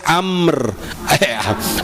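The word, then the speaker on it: أمر: Diganti tadi, jangan sampai amr lagi, tapi harus amr. Amr. Ro-nya nggak kedengeran, Bu, amr.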